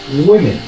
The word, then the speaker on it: women: Mais je dis à présenter aujourd'hui, mais je dis à présenter au ça qui prononce même ensemble avec et. Women.